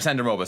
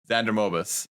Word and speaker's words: Xander Mobus: this guy's probably uh sorry sandra moba sorry my bad xander mobis sorry i should pronounce things correctly xander mobus i just saw the